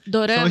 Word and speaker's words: dorama: Doramas. São esses doramas, né? Dorama, para quem não entendeu, é meio drama pronunciado do jeito coreano, né?